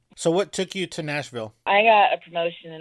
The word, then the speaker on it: Nashville: different pronunciations of it the way I always tell people is that you have to say it like you have a mouthful of marbles seriously yeah and people